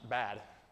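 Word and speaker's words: בד: The Hebrew word that's used for for bars or gates there in Job 17:16, the Hebrew word is is pronounced bad.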